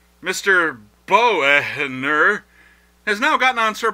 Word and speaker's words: Boehner: House minority leader John Benner who asks that we pronounce his name in a manner contrary to the way it's spelled Mr Boer has now gotten on